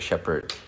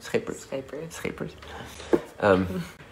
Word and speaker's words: Schepers: So my friend Mark Geenan, for example, and Rulika Shepard, is that how you pronounce it? Schepers.